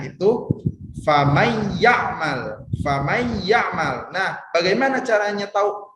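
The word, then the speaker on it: فمن يعمل: ini ya ada teh famaiyakmal famaiyakmal nah Nur matinya itu seolah-olah tidak ada atau dilebur ke huruf yang selanjutnya yaitu huruf ya makannya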